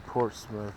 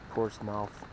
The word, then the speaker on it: Portsmouth: definitely will be in Portsmith Portsmouth technically that's how you would pronounce it port's mouth I will be there